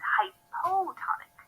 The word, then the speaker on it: hypotonic: We say side A is hypotonic. Hypo rhymes with low, which helps me remember that it's a lower solute concentration, at least when compared to side B.